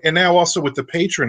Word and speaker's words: Patreon: it's um so-so patron it's they pronounce it patron because I've watched all